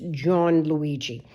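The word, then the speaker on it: Gianluigi: uh John Luigi uh John Luigi it's g a i and Luigi but uh I don't know you know it's pronounced like John but it's John Luigi and then he will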